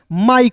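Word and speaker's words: mike: लिखिएगा और याद रखिएगा अंतिम में आई के ई दिखेगा तो इसका उच्चारण आंख मूंद कर आई के रूप में प्रयोग कीजिएगा दोस्तों, ठीक है।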